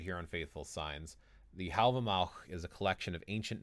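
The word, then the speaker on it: Hávamál: here people pronounce it have a mall i pronounce it it's kind of like a k sound at the end there but more in the back of the throat that's the way i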